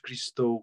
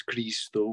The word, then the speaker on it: Christo: consider that um um Chris Christo the the pronunciation is not Christo correct where the bat is Chris though because um he from he was from Bulgaria